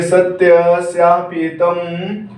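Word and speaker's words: सत्यस्यापिहितं: कह रहा है, हिरण्मयेन पात्रेण सत्यस्यापीतं, इसको बोलेंगे सत्यस्यापीतं मुखम तत्वं पुष्णन् पावृणो सत्य धर्माय दृष्टये।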